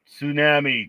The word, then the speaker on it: tsunami: Tsunami. T is silent.